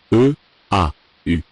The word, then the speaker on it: eau: Combination of the vowels. First group. E. A. U. Get the sound. O. Like this example. Une eau. Une eau. Feminine singular. Une eau. A water. Des eaux.